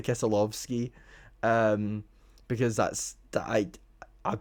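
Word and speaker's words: Keselowski: And uh, Kesalowski uh won that weekend. By the way, if you're wondering why I'm pronouncing his name like that, that's the Polish way of pronouncing it.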